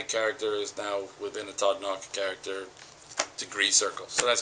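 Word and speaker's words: Todd Nauck: It's guest starring Todd Knox. He actually told me that's how you say his name. I had to ask.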